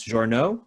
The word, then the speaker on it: Journeaux: vecchio daniel vecchio and tyler i'm going to guess this journal yes yeah very good i got it okay